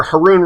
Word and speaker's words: Haroun: But remember, Haroun rhymes with baboon.